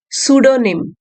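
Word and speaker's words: pseudonym: प्रेमचंद जी ने द सूडोनिम P silent है यहां पे सूडोनिम डिस्कारेड मतलब त्याग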